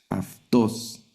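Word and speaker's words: αὐτός: Entonces la yil toma sonido de f. Aftos, que es el pronombre personal el tercera persona masculino singular.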